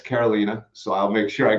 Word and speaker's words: Karolina: last name but now I know it's not Carolina it's Carolina so I'll make sure I get that right